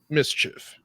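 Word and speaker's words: MSCHF: it's a designer and it's spelled ms chf mischief he um he did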